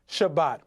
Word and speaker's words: Shabbat: spelled from right to left sheen bait thave pronounced shabbat and it means celebrate we told you that